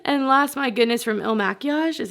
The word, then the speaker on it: Il Makiage: And last, my goodness, from Il Makiage, is how you say it.